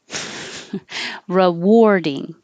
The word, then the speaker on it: rewarding: This one is spelled with an A, but sounds like an OR. Yeah. Rewarding. And the RE can be re or ra, it doesn't matter. Rewarding and war, like I wore this.